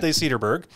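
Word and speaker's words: Sederberg: I understand you are one of the founding partners at Vicente Cederberg, if I'm pronouncing that correctly, or is it Cederberg? Cederberg.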